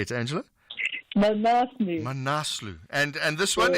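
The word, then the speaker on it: Manaslu: Manus manasu how do you say it Angela manasu manasu and and this one is a Dublin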